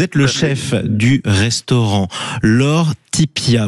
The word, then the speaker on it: Lore Ttipia: Vous êtes le chef du restaurant Lor Tipia. Vous me dites si je le prononçais mal. Si je le prononce mal. Vous vous y êtes. Vous y êtes presque. C'est Lauretipia.